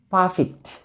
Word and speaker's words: perfect: Perfect. From the word perfect, we find two syllables in this word. Okay, one is pa, another is fict. Perfect. We should stress on the first syllable.